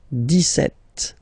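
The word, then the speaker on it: dix-sept: then for the pronunciation deset okay so you don't insist on the S deset deset set okay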